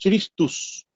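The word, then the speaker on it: Χριστός: Y el otro significado que tiene es en griego, porque Masiaj es en hebreo, significa ungido, salvador, libertador, y en griego se pronuncia Christus, en griego significa Cristo, que es el ungido.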